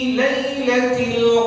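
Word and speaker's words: ليلة: Fi lailatil lailah ya Fi lailah bukan lailah Bukan dibaca lailah bukan la tapi lai ya Jangan dibaca fitiliiltil Q engak ada baca surraniiltilqad fi lailati fi lailati fi lailati seperti itu ya jadi enggak ada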